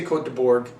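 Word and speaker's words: Côtes de Bourg: bone coats to Bull now there's a debate should we say it like the French or should we say it like an American and my friend Alan would debate that you say it like the French which is how they say it we would say quote the Borg it's okay with me if you say it that way no sweat off my back this is on the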